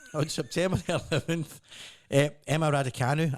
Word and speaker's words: Raducanu: Well, on September the 11th, Emma Raducanu, I'm pronouncing that right, haven't I? That is right, Emma Yeah.